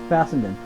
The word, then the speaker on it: Fessenden: hello we are interviewing the brilliant Larry fadan am I pronouncing that correctly yeah fendon uh f fendon is that German what is